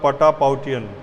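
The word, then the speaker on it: Patapoutian: जो इस बार का नोबेल प्राइज़ मिला है चिकित्सा के लिए, वो मिला है डेविड जूलियस और एडम पटपोटियन को। उसका पूरा प्रोनाउंसिएशन होगा पटापाउटियन, लेकिन याद रखिए जो भी आपको ध्यान रह जाए।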